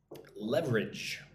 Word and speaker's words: leverage: Leverage. Leverage. It looks like this word is leverage, but don't say it like that. Just 2 syllables.